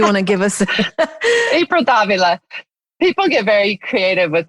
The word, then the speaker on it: Davila: But people get very creative with Davila. Really? How do they pronounce it? Davila. And then they get nervous that they're saying it wrong. So then they'll put the emphasis like the Vila. They're like, they break it into two words.